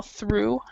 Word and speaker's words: through: This word is actually pronounced through. Through. Through. No worries. No worries. Alexander, could you say it as well? Through.